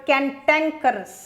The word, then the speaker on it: cantankerous: you've got this word cantankerous can tan curve us cantankerous good word cantankerous is